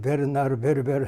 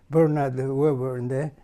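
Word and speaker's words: Bernard Werber: 그래서 그게 락앤드롬인데 이거는 그 유명한 플란스 작가 베르나르 베르베르 브르나드워 뭐 그쪽 발음으로 베르나르 베르베르 하지만 영어식으로는 브르나드 웨인데 그 사람의 작품 중에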